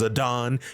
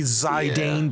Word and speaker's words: Zidane: once in the whole game and yeah it's pronounced zadon you hear me zidane Believers I'm right and I know I'm right